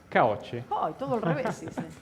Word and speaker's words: Caocci: Quiero pronunciar bien tu nombre. Bueno. ¿? ¿Coachi? Caoche.